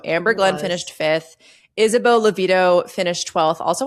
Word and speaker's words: Levito: Isabelle Levito finished 12th. Also, I said her name wrong last week. I kept saying Devito, like Danny DeVito, which was really weird of me.